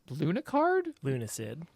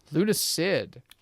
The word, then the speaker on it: Lunacid: And Lunacard? Lunacid. Off to a good start with the pronunciations on this one.